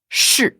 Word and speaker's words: 是: Donc déjà shi, la prononciation d'après toi, c'est quel ton? Shi. Ah, alors là c'est clair, net, précis, donc c'est le 4e ton.